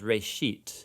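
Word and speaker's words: ראשית: of it's called genesis genesis comes from a hebrew word it's pronounced reishit and it just means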